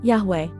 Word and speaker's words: Yahweh: x tidak pernah hilang beberapa penulis Gereja Kristen awal Yunani bersaksi bahwa nama itu diucapkan Yahweh ini mengesahkan sekurang-kurangnya untuk